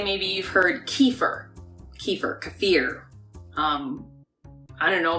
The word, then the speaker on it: kefir: maybe you've heard Kieffer kefir kefir I don't know there's lots of different ways to say the word however the correct pronunciation when you look it up it says kefir I love kefir I love kefir for